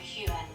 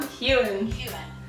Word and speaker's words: Heughan: made to just answer the question how to pronounce this guy's name, and this is Sam Heughan. Repeat, Kaśka. Sam Heughan.